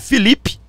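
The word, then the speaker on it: Filipe: O nome do Felipe Martins se escreve Felipe. Às vezes eu falo Felipe aqui, mas é Felipe. É com FI lá. nos Estados Unidos está com F de Felipe.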